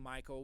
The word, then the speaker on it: Michal: And I for some reason automatically pronounced it mikall which is apparently the Hebrew way of pronouncing that word.